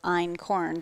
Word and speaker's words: einkorn: may not have ever even heard that word ein corn so it's spelled spelt e-i-n-k-o-r-n and it's the ancient grain